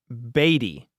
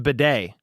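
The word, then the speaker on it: Badie: running back Tyler badet has had his name pronounced batty that's even how his name appeared on the team's official pronunciation guide It's pronounced bedet Tyler Bay Bay okay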